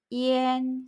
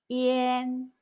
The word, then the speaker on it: ian: 알파벳 IAN은 I를 E 소리로 짧게 발음하고 A를 길게 발음하는데요. A는 원래 아 소리이지만 운모 I, E 소리와 끝에 닫힌 소리의 영향으로 에 소리로 바뀝니다. 그래서 IAN은 이안이 아니라 이엔 소리를 냅니다. 꼭 기억하세요. IAN, 이엔.